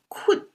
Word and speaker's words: 困: And pronounced as 困 originally means surround or besiege.